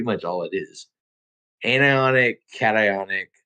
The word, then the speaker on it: cation: dumbed down version and the pronunciation on the old Google says cation yeah yeah cat ion I I say carry